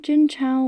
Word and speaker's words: Jin Chao: But one argument I kept seeing in defense of the movie was that Jin Chao, which is the questionable anglicized pronunciation of her name but the only one made available, was just meant to